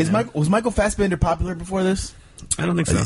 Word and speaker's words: Fassbender: Fassbender.